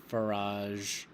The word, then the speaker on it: Farage: We're upset because of Boris Johnson, Nigel Farage. That's how you pronounce it.